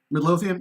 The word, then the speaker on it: Midlothian: Midlothian? Thank you, Aaron. Good. I'm saying it right. Miracles happen! After I butchered that, what was the word for skinwalker?